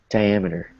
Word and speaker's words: diameter: So, yeah, so try not to, your brain is probably trying to say, oh, say diameter, because you know the word meters, right? A form of measurement. But here it's diameter.